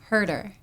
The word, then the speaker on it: Hoerter: Herder, cuz I I could never um pronounce it properly.